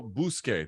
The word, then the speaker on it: Buskei: the UFC translator extraordinaire it's I think I'm pronouncing this right Fabiano bousquet did I get your last name right you